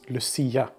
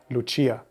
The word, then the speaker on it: Lucia: performance of what is known as luciaa or with the proper pronunciation Luchia usually a woman with